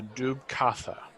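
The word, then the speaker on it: Dubh Catha: stricken from history but stories call him the dub kapha um you spell that though d-u-b-h c-a-t-h-a um and then in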